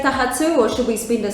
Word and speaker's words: taha tū: So if we think of it in its syllables, taha, and then the tū has a macron over the u, so that makes it longer. So we're saying taha tū.